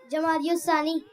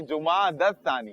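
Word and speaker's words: جمادى الثانية: दियुस क्यों कर रहे हैं भाई? जुमादस्तानी। क्या है? जुमादस्तानी। जुमाद।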